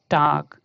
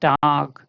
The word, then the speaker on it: Tag: So the G changes here to ka. Okay, so this sounds like this, you see, duck. This is like otherwise we will read it like as tag. Okay, but this is not tag, this is tag.